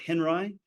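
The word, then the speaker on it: Henri: the most famous is an artist named Robert Henry and that's spelled h n r i and both glockens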